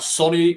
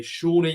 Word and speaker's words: Sone: let's talk then about Sony oh no Shawnee aluko I'm still I'm still saying that I'm sorry um ever since we got corrected to say his name correctly Shawnee and Luco is back